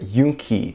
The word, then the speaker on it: Yoongi: Tang during the Chuseok stream wanted to emphasize that it was not Yoongi marry me, but Yoonki marry me, which is just the American pronunciation of it.